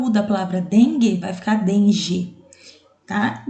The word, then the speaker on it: dengue: palavra dengue e água quando você pronuncia a palavra dengue não aparece o som da letra U certo então farinha dengue não